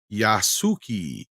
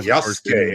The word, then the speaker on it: Yasuke: his desire to push Yasuki. Yeah, well, Yasuke, as it is pronounced.